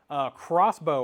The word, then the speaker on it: Xbow: Crossbow or Xbow is how it's styled, but Crossbow is how you pronounce it.